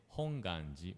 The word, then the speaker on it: Hongwanji: the GU like a w sound actually correct pronunciation is hongi without W yeah we may wondering that why